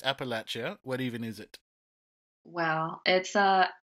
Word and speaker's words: Appalachia: what what even is Appalachia well number one you have to say it correctly Appalachia Appalachia Appalachia gotcha I thought that